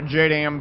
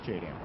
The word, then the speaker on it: JDAM: using 30 mm a jam bomb it's a jam guys you don't say it Jam it's jdam it's not a someone